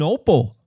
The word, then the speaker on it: Opal: And the people who live there call themselves call their town O Pal with the emphasis on the O pal.